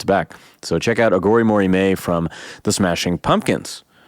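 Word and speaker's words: Aghori Mhori Mei: I've already talked about his proclivity for weird titles, but it's called Agori Mori Me, which is spelled Aghori, Agori, Mhori, Mori, Mei, May.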